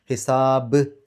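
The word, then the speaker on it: حِسَاب: രി എന്നുള്ള ഉച്ചാരണം കൊടുക്കുക ഹിസാബ് അവസാനത്തെ ബാ അത് കൽക്കലത്തിന്റെ അക്ഷരത്തിന് സുക്കൂനുള്ള രൂപത്തിലാണ് അവിടെ നിർത്തുമ്പോൾ വരുക അപ്പോ അതുകൊണ്ട് അവിടെ എടുത്തു പറയണം വെളിവായി പറയണം കുറച്ചു കട്ടിയിൽ പറയണം ഹിസാബ് എന്ന രൂപത്തിൽ നമുക്ക് ഈ മൂന്ന് ആയത്തുകൾ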